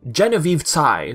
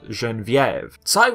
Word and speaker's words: Genevieve Tsai: for a long time Genevieve's I that's the English pronunciation if you want to go with the French one it's pronounced Genevieve site was credited as additional